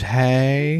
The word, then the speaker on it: Haigh: wasn't going to up the pronunciation Google says it's hey okay so John George hay was born in Stamford Lincolnshire England got to